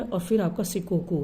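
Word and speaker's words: 四国: Option है Honshu, B Hokkaido, C शिंकोकू एंड डी क्यूशो। शिंकोकू नहीं, sorry Shikoku है ना।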